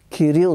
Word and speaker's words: Кирил: Бяха вързали дядо ми за ръцете отзад и ние го чухме как вика Кирил с това ударение.